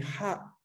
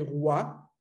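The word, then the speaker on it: は: de la columna de ha, ¿no? Como podemos ver aquí. Ha, hi, fu, he, ho. Pero es esta que ven acá, la que se lee wa cuando está en función partícula.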